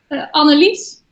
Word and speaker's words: Annelies: Annelies. Annelies. That's why I'm pronouncing it in the English way.